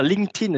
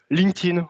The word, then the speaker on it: LinkedIn: Vous pouvez dire LinkedIn, j'ai un compte LinkedIn, etc. etc. C'est plutôt comme ça qu'on va le prononcer. Parce que linked en anglais, ça se prononce linked. Donc, LinkedIn, voilà, c'est le petit comme ça.